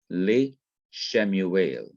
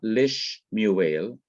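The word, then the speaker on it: לִשְׁמוּאֵל: So you have le Shemuel, le Shemuel. Now, I just want you to notice this in case there is any question. The second schwa remains vocal, that is, it is to be pronounced as it was before the preposition was attached. So it's not lish muel, as we might think from another grammatical rule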